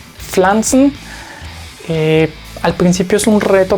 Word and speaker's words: Pflanzen: Cuando llegamos a la combinación PF, hay una pequeña como pausa porque se busca pronunciar ambas letras. Entonces esto se leía como Pflanzen, Pflanzen.